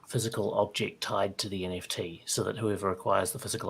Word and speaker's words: NFTs: Frozen um and pick nfts nifties or how you pronounce it uh I I definitely lean towards nfts yeah sorry about the